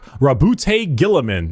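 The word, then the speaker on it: Guilliman: Primark Rabbout Gilaman.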